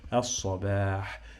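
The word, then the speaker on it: الصباح: And then in the end we have ha, doesn't sound like H. Okay, so as-sabah.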